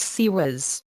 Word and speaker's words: CIWS: There I officially attended training on the clothes and weapons system or CIWS pronounced SEWIS and was assigned to a pre-commissioning ship that was in the process of being built.